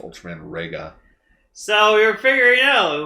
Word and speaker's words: Reiga: Yeah, it's pronounced Ultraman Reiga.